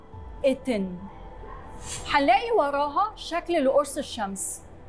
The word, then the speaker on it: أتن: أتن أول علامة هنلاقيها هي على شكل الريشة وبتتنطق ألف مكسورة، ووراها هنلاقي نصف الرغيف الخبز اللي بيتنطق ته، ووراها هنلاقي علامة أمواج المياه اللي بيتنطق إن، وتتنطق الكلمة على بعض أتن.